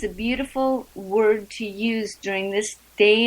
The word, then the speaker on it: Wyrd: name of our show word it's pronounced kind of like a combination of weird and word when you give someone